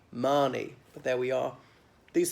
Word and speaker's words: Mahoney: and that the his surname or the family name is Mahoney but of course it should be Marni but there we are